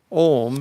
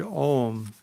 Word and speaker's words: Om: And these three, when combined, become the word Om. First pronounce the word Ah, opening your tongue, and then pronounce Oo, and then close the lips and pronounce the sound Well, I think that's experiential.